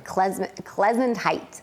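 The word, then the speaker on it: Klezundheit: Klezentite. Sorry. It's kind of like a sneeze, like Klezentite.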